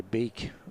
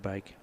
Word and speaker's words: van Beek: I'm going to say Beak not Bake you say is it Logan Van Bake I was told from our colleagues from radio leester. Okay I'll go with Bake.